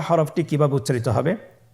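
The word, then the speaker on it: ح: হা হরফটি কিভাবে উচ্চারিত হবে? হা হরফটি উচ্চারিত হবে কণ্ঠনালীর মধ্যখান হতে।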